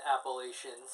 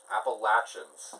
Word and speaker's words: Appalachians: Or in Appalachians. Or, it happens. Appalachians. Appalachians. So think of it as Latchin.